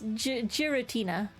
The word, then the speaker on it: Giratina: g gutina g gutina is it not your atina is well it's Giratina wait I'm not sure